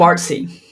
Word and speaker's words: Boardssey: is asking, is it pronounced like Odyssey or like Morrissey, like Boardssey, board? How do you pronounce it? We pronounce Boardssey. Boardssey.